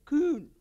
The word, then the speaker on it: Kuhn: So I looked it up, and there was this really smart guy who's another mathematician and scientist named K-K-U-H-N, Kuhn.